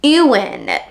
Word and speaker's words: Ewan: our main male character his name is Ewan i w an and it is a weirdest pronunciation I could not figure it out for the longest time but it is euan and he is a